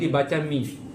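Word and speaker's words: μ: Ini ditulis mu ya, tapi dibaca mi. Ya. Mi. Mu. Ya. Mu. Ya. Dibaca mi. Bacanya mi.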